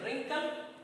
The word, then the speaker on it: wrinkle: Okay, third number column you see the pronunciation wrinkle, wriggle and right. ये तीनों का जो pronunciation है wrinkle, wriggle और right, here W, W and W, all 3 W's are silent here.